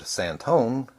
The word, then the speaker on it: San Antonio: and when I mentioned santone as it was always pronounced in Texas he said he would